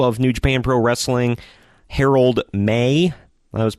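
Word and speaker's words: Harold Meij: page I called him mage I didn't know the J was silent I've never seen the name before so there you go but Herald May came out to let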